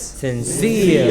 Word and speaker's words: sincere: mountaineer, All of these words ending in ERE or EER take stress on the final syllable. So this is severe, severe. What is it? severe, This is sincere, sincere.